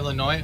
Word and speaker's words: Illinois: up Tammy F hello the S is silent from Illinois oh my bad Illinois